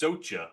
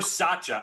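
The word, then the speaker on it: Soča: First of all, it's pronounced Socha, apparently. I Googled Wow, Socha. thank you for, figured I was wrong. Or Sacha.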